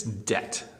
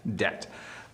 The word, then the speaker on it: debt: So again, do not pronounce the B, just don't. It's debt, debt.